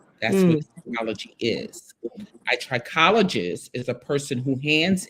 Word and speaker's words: trichologist: Trichologist.